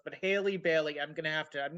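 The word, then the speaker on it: Halle Bailey: a quick aside uh the name of the actress playing Ariel in Little Mermaid is Haley Bailey oh see that's why I'm getting Ally Berry because it's so phonetically close but Haley Bailey I'm gonna have to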